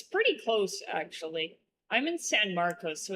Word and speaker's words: San Marcos: I I'm just And then people are like instead of San Marcos, they're like San Marcus.